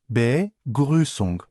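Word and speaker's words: Begrüßung: İlki begusong telaffuzuna dikkat. B grusung anlamı selamlama ya da karşılama.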